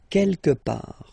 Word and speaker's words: quelque part: Don't pronounce the final T. Quelque part.